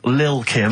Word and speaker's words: Lil Kim: Now, Steve, I see there it's a track by Little Kim, but how are you pronouncing it? I'm pronouncing that correctly. Lil Kim. Oh, no T's involved.